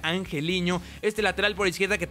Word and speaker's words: Angeliño: Club es angeliño que me misión que se pronuncia angeliño este lateral por izquierda que también lo vamos